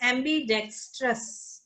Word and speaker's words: ambidextrous: Okay, it's AMB, V नहीं है, B है, AMB, बब्बे नाल। हाँ, इन्हों बोलना है ambidextrous, ambidextrous, ambidexter, ambidextrous, ambidextrous,